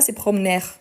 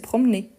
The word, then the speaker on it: promener: aigu donc c'est pas ses promenè c'est c'est promener donc c'était comme s'il avait un accent aigu ici ok donc c'est pour